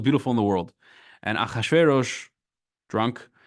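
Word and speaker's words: אחשורוש: Achashverosh is the Hebrew way of saying it.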